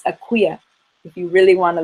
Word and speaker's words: Akua: learning their day name, which is for females, Akuya. Akuya. And a lot of time people, because it's spelled A-K-U-A, will say Akua.